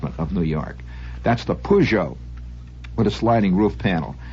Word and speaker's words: Peugeot: York New York and you can spell it P double o j o e pujo after you get your